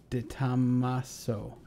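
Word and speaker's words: De Tomaso: cool car thank you steph stefan or stefan de tamaso there you go if you say it you spell it out right that's exactly right so pantera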